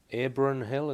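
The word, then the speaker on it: Abronhill: This was at Abron Hill, is that the correct pronunciation?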